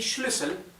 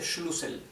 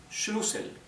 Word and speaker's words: Schlüssel: Ahora, Schlüssel, fíjense que tenemos una umlaut en la U, una diéresis. Eso quiere decir que no se dice Schlüssel. Si no tuviera la diéresis sería Schlüssel. Como tiene la diéresis o umlaut es Schlüssel, ¿sí?